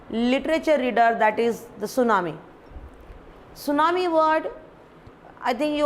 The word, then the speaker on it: tsunami: not tsunami so actually this word is a japanese word and according to english